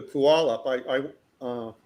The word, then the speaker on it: Puyallup: Come to Puyallup.